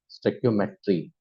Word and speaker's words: Stoichiometry: उसको प्रोनाउंस करते हैं हम लोग स्टोइकियोमेट्री।